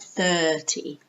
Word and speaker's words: thirty: we 727 this 135 be careful the pronunciation of 30 it's kind of like a long sound like thirty thirty not be a peep not 30